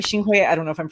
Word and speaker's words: Xinhui: it gets complicated um so xingwei is the the mandarin um spelling for uh pinging for sunway which is the cantonese pronunciation of the same city that baldwin's um father